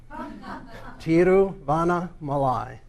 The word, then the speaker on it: Tiruvannamalai: name of the city, which I used to pronounce incorrectly. So we think of the great American saint Vanna White, Tiruvannamalai.